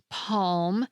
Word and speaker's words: palm: If you're from Britain, you probably don't pronounce the L in calm or palm. But if you're American or Canadian, you might find yourself emphasizing that L sound.